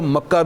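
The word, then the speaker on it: مكة: بکا بھی فرمایا گیا، بکا بھی ایک تلفظ ہے جی، اور اسی کو مکہ بھی کہا جاتا ہے، مکہ بھی اور بکا بھی دونوں ہی، آپ سمجھانے کے لیے کہہ رہا ہوں، عربی لغت میں دونوں ہی لفظ استعمال ہوتے ہیں،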